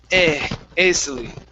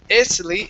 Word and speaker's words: easily: Okay, this has an e sound at the very beginning. It's eas. A lot of the times, and I have two other words that have the ea together, you're pronouncing them as easily. Instead of easily, it's easily, easily. Easily.